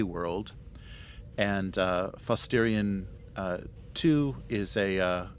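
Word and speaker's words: Fosstarian: frigid lifeless uh Class K world and uh fosterian uh two is a uh uh as a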